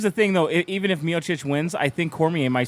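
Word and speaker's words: Miočić: the Daniel Cormier, how do you say it, Miocic? Stipe Miocic.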